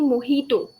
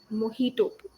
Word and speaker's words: mojito: I know the right one okay it's actually moito moito okay uh that's the uh correct word some